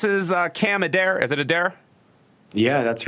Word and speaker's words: Adair: Is it Adair? Yeah, that's right. All right, good. Okay, I haven't been pronouncing it wrong the whole time.